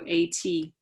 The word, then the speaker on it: ATCase: They call it ATP, they call it aspartate transcarboxylase, so ATCase.